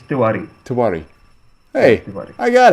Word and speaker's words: Tewari: Is it Yes, Tewari? you are right. Bang on. First time, Yeah. All right, first, and then say your last name. It's Tiwari. Tewari.